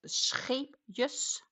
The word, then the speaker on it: Scheepjes: To speak fluent Dutch, you need a really good throat infection. Because they do have letters all the way in the back, like the pronunciation of the Dutch jaarbrand scheepjes.